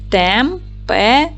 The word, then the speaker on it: температура: в зошит Давайте перевіримо поділимо слово на склади температура наголос падає на четвертий склад Т - твердий приголосний